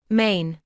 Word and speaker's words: Maine: Название «Мэн» странно произносится на русском языке. Англоязычные пишут и произносят его немного иначе. Maine.